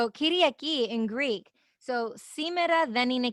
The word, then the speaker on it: Kyriaki: It's Kyriaki.